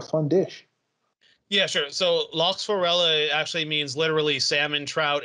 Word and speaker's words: Lachsforelle: Okay, so here we have, let's see, lachsforelle. No, lachsforelle. You pronounce the E on the end. It's not French. Okay, lachsforelle. Forelle or forella?